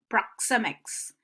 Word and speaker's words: proxemics: example in the word proxemics so this proxy mix so there are 3 syllables and the stress falls on the second props up proxemics ok so you're going